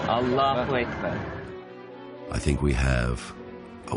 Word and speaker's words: Allah: well complications of language infliction is on the second syllable Allah I think we have